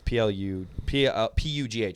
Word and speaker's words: Pugh: Probably like Pew or something like that. Florence Pugh. It might be. Yeah, it's P-U-G-H.